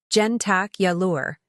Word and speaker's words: jentacular: you were moving wiins word number six jentacular pronunciation gentac yure meaning related to breakfast next time someone asks